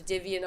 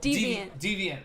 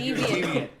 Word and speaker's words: Deviant: some of my peers diviant arts and being like wow diviant hell using deviant Arts hell what in the hell deviant like deviant yeah like Twisted that's awesome I wish